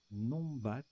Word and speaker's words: numbat: Numbat. Alors, ça se prononce Nombat.